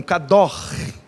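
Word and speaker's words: קדוש: Santo na Bíblia, kadosh é o conceito, a pronúncia seria algo parecido com kador, né? Kadosh, que é o gutural ali, né?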